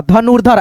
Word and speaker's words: धनुर्धर: हर्षित हर शित हर्षित धनु उसके बाद से र धनुर्धर ऐसे करके पढ़ते हैं फिर यहां पे देखो कर्तव्य कर्तव्य।